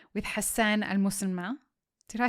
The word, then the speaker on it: Almasalmeh: I'm your host, Lee Safar, and today we start a new series, episode 1 of 5, with Hassan Almasalmeh. Did I say it right? Almasalmeh.